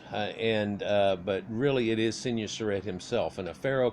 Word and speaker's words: Senwosret: of course we actually say senior surrett and it's very Americanized and he'll i'm techni fide so you get a lot of that out of it but in their language if you were to pronounce it out phonetically off of hieroglyphs it would come off as more of swin wasurete senwosret and the so that